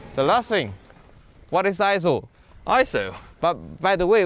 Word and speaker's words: ISO: means equal so technically you're not supposed to break out the word iso you're supposed to pronounce it as iso iso long story short